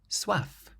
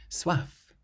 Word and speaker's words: soif: The next word, soif. Soif, meaning thirst. And this word ends in an F, which is one of the careful consonants, so you can pronounce the F soif.